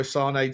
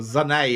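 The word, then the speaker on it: Sané: Apparently, Sane Bayern Munich have offered Leroy Sane to or Zane apparently. I've been saying his name wrong for a year.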